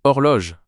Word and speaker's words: horloge: ou i en français la lettre G se prononce généralement comme le son g lorsqu'elle est suivie d'un e ou d'un i dans le cas de horloge le G est suivi d'un e ou E ou E